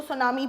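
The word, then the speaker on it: tsunami: इसके अंदर पीस है वह साइलेंट होता है तो हम इसको सुनामी पड़ते हैं फाइन यह आपका जापानीज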